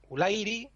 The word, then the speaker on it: Ulairi: Y luego hay un último caso en el que la penúltima sílaba es fuerte, que es cuando lleva diptongo. Un diptongo también la hace fuerte. Fanuilos, Ulairi, Valarauco.